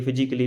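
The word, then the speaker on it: physically: ए का उच्चारण नहीं करते हैं, जैसे म्यूजिकली, फिजिकली, romantically. B silent.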